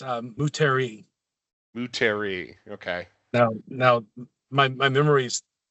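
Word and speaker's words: Moutere: I'm embarrassed to admit that I have always in my mind read it as Moterre, but I guess I just got corrected, I think.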